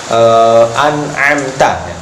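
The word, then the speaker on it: أنعمت: Bedakan jelas antara hamzah. Jangan a, i, a, i. Bedakan jelas. Karena supaya beda antara ain dan hamzah, biasanya pengucapannya hampir sama kalau ketika kita tidak mengetahui makhrajnya.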